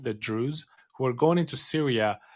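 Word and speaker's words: Druze: out of Israel of about a thousand Israeli Drews, this is a community of people, I'll spell it out because it's hard to to get it sometimes. D R U Z, the Drews, who are going into Syria apparently to go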